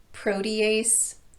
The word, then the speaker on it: protease: might also run across some words that are spelled with an e-a-s-e ending but are pronounced EAS these would include yuriase cases protease nuclease and permease I wouldn't worry about